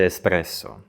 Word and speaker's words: espresso: wszystkie gnoi mówisz nioki ekspresu A mówi się Espresso nawet pizza w Polsce